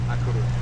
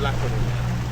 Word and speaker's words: A Coruña: Is it La Coruña or A Coruña? A Coruña. A Coruña. So I've been saying it wrong all these years. Well, I think in Castellano is La Coruña, but they call it A Coruña because it's a different language.